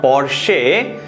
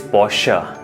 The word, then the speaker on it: Porsche: It is not Porsche, it is Porsche. Porsche 911. SHUH, ये मान के चलिए कि इसके सेकेंड पार्ट में इस तरह से है. सो the pronunciation of this word will not बी Porsche, it will be Porsche.